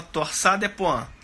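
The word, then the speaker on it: torsades de pointes: Se escreve torsades des Pointes. Se fala torsade de Pointes.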